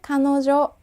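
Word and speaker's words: 彼女: 대명사 가래 라고 합니다 먹는 카레 아니에요 그녀는 카노 죠 라고 발음합니다 가너 줘 또 상대방과 대화할 때 누구누구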